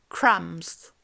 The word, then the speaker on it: crumbs: Autre son, le groupe de lettres MB. Eh bien, le B final ne se prononce pas. Par exemple, crumbs.